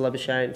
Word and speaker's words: Labuschagne: in english um you know it's it's a love of shame so it started from when i was quite